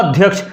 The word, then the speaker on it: अध्यक्ष: है अध्यक्ष लिखा है तो अध्यक्ष लिखा होता है अध्यक्ष लेकिन हम जो उच्चारण करते हैं तो क्या उच्चारण करते हैं अध अध्यक्ष अध्यक्ष आगे द आ जाता है।